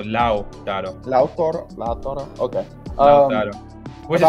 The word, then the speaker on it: Lautaro: Is it just Lautaro? No, you need to include the U. So Lautaro.